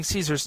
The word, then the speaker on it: Caesar: Thus, his name is pronounced in a similar way to the pronunciation of the German kaiser.